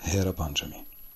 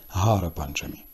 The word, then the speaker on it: Гера Панчамі: Прихід богині щастя до Гундічі святкують як Гера Панчамі. Іноді Ативаді спотворюють вимову, називаючи свято Гара Панчамі.